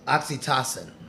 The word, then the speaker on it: oxytocin: uh I don't know the oxy oxy team how you pronounce that uh oxytocin that's right oxytoxin yeah they all call